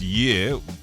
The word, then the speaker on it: Ye: formally requested to change his name to year pronounced year but it's spelled y e um after filing